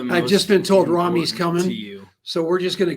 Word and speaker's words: Ramy: And if I call him Ramy, that's wrong. It's Ramy, like do, re, mi.